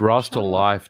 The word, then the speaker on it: Rasta Life: This is for Rostalif Reggae also gifted 5 Spawn Wave memberships. It's Rasta Life, John. Life. Rasta Life, Rasta thank you. Life. Let him you. keep mispronouncing it. It's Rasta, fine. thank you, MVG.